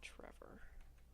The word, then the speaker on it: Trevor: died Trevor all right Trevor no I finally found a pronunciation that said rhymes with clever and I'm like oh